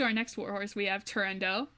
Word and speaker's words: Turandot: So moving on to our next warhorse, we have Turandot, which I, until recently, thought was pronounced Turandot.